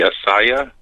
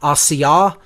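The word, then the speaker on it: Asiyah: would i would say if i were to give the correct pronunciations as closely as i know them to be it's asiya yes but i couldn't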